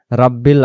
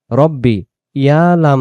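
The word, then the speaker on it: ربي: কিন্তু আমরা অনেক সময় পড়ি রব্বিল আজিম বা রাব্বিল আজিম। রাব্বিল বলে বা লামজের বিল হয়, তখন এই যে ইয়া অক্ষরটা দেখা যাইতেছে, ইয়া অক্ষরটা বাদ চলে যায়। তাহলে এখানে সঠিক উচ্চারণ হবে রব্বি ইয়াল, ইয়া লাম জবর ইয়াল, রব্বি ইয়াল।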